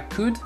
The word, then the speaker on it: could: » Donc, I could swear, I could, on ne prononce pas le L, ok?